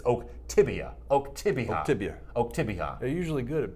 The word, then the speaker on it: Oktibbeha: He says it's Oktibbeha. They're usually good at pronouncing those things.